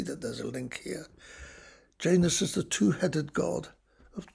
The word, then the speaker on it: Janus: at all and then janus have to pronounce that fairly carefully if you think of um well i don't know the english word janitor you can see that there's a link here janus is the two-headed god